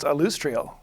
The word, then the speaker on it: Alustriel: alustriel silverhand you you'll see her name is pronounced alustriel oh okay okay who is I'm going to